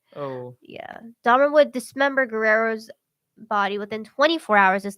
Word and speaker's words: Guerrero: named Richard G Guerrero Guerrero there you go Guerrero outside a gay bar called Phoenix interesting gay